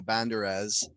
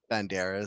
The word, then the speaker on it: Banderas: that wolfman movie with antonio bandares banderas sorry i was saying it wrong on purpose again where they were